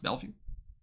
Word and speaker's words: Bellevue: So Bellevue. That's really how it's pronounced. Bellevue. Okay. Well, thank you. I appreciate you. Bellevue.